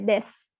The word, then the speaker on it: desu: Karena u itu tadi kan dibacanya tidak jelas ya. Kan u itu dibacanya tidak terlalu bunyi. Umpamanya kita sering bahasa Jepang itu watashi wa sensei desu gitu kan. Padahal kan tulisannya desu itu. Karena u-nya itu nggak dibaca jelas.